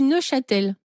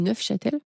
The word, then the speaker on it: Neufchâtel: Alors tu dis ne châtel. Neel bah c'est du neuf Châtel. On prononce forcément le F.